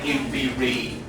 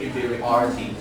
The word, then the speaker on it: inferiority: The next one, this word, the stress falls on the syllable O. So we say inferiority. So maybe say once again, inferiority.